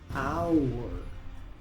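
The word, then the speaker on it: hour: Muchos pronuncian esta palabra, porque normalmente la H se pronuncia en inglés, pero aquí la H es muda, así que esta palabra se pronuncia our.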